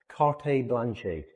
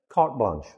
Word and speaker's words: carte blanche: Carte blanche. Carte blanche. No. Cart blanch. Cart blanch. We don't pronounce the e at the ends.